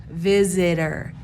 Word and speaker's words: visitor: me say visit visit it's as if I go to start to say the D sound visit as if I'm starting to say the d word but then I say I keep it quiet and then I go ER so visit ER visitor visitor so you can hear the D in there visitor daughter I hear